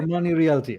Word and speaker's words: Armani Realty: Am I pronouncing it? Armani Realty. Yes, sir. You got it. Armani Realty.